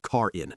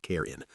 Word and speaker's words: Karen: I released Chad and turned to find the head of HR, Karen, pronounced car in, not care, standing behind me, arms crossed, my face flushed with color.